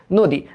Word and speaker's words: নদী: এবার দেখো তো নদী, তো আমরা জানি যে আদ্য অ এর পরে যদি একটা রস্যই, একটা দীর্ঘই, একটা রস্যু, একটা দীর্ঘ, একটা ক্ষীয়, একটা জফলা, একটা এই যে এইটা থাকে, তবে অ এর উচ্চারণটা হয়ে যায় ও এর মতো।